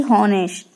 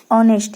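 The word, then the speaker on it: honest: तो जब किसी शब्द का पहला अक्षर एच हो परंतु एच उसे ना बोलें, जैसे कि तो हम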